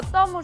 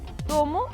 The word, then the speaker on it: tomo: Só tomo se pode pronunciar das dúas maneiras. Tomo ou tomo, como colmo e colmo.